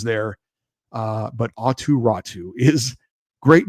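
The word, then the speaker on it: Raty: It doesn't look like Ratu. His last name is spelled R A T Y, but he's from Finland. They have unique names there. Uh but Atu Ratu is great name to say.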